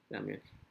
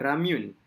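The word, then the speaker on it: 라면: Ramyon. Amy Omar Ramyun. Okey, Amy Omar ni salah. Pronunciation Amy Omar ni kurang tepat sebab dia sebenarnya Ramyon.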